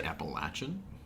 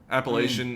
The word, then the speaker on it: Appalachian: that they were filming and uh you say appalachin yeah that's how you pronounce that I don't know I always say it cuz it's like appalachin State like that's the col Appalachian Appalachian I don't know I think either way